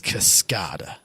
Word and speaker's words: Cascada: not how you pronounce I think it's cascada like ascator it is alright I'm